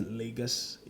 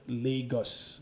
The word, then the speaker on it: Lagos: first of all, that's Lagos. It's pronounced Lagos, not Lagos, for crying out loud. Just listen to a Nigerian say it and say it like that.